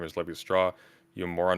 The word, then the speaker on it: Lévi-Strauss: LMAO at President Sunday pronouncing Claude Lévi-Straux's name as Lévi-Strauss. You moron, not all ending syllables are silent in French. That one is, though. It's not Lévi-Strauss. It's Lévi-Strauss.